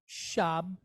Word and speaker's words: Shabbat: This word is Shabbat. 2 syllables. 2 vowel points.